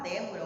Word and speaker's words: Débora: na antepenúltima seria próprio a palavra débora o meu nome ser o que uma proparoxítona porque a sílaba tônica dele está na antepenúltima entenderam então nós temos